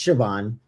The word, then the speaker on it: Siobhan: Her name was I could never say her name right before. I was like, who is Soon? It's Siobhan.